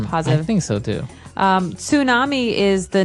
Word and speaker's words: tsunami: I know, tsunami. And actually, if you see the spelling, it's with a T, T-S.